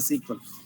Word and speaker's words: SQL: but a sql language i can also pronounce as a sequel what do you mean